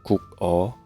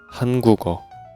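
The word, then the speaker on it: 한국어: So, we speak like Hangugo. Hangugo. If we speak like Hangugo, gugo, gugo, we only have to tip this part because giyeok pronounce from this part. Geu. Geu. So, if we speak Han gugo, our throat is pretty comfortable.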